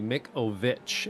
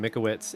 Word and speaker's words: Mikovich: Just getting it, it's actually Mikovich, and we're gonna have to apologize for calling him Mikowitz, and I believe probably a few other names as well in the last little while.